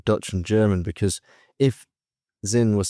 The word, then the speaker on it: Sinn: Before I discuss, we joke around in Holland cuz you pronounce it in a Dutchy way. Zin as if it's a Zi N.